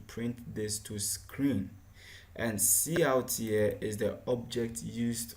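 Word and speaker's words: cout: are done okay the identifiers see art we just pronounced see out it's an object in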